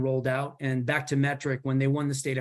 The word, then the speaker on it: METRC: And Metric in this particular instance is spelled METRC.